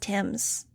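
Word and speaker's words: Thames: themes nudge read carefully it sounds like a Tweed theme park said angel It's pronounced Tims total said licking one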